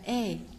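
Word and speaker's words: 의: Và từ này đọc là ơi, nhưng mà khi đưa vào cấu trúc ngữ pháp mà danh từ cộng với ơi làm sở hữu á, thì ơi lúc này đọc là e. Đọc là e các bạn nha.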